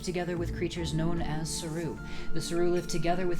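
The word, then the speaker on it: Seru: I don't care, this is how I pronounce it. It was the Saru. And yes, that is the actual official pronunciation based off of an old PlayStation Underground interview.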